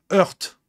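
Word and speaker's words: Hoerdt: Heurt. Ah, tu sais, heurt. Tu dis, bah oui, mais Rémi, c'est un verbe en langue française. Alors, quand ça s'écrit H-O-E-R-D-T, non, c'est pas un verbe. C'est une ville.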